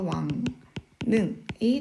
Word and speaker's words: 왕릉: 그 다음에 왕릉은 앞에 나와 있는 이 이응 받침 때문에 뒤에 있는 리을이 니은으로 바뀌죠. 그래서 왕능이 되겠습니다.